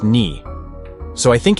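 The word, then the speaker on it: 二: of Yume Nikki, and in Japanese 2 is pronounced ni.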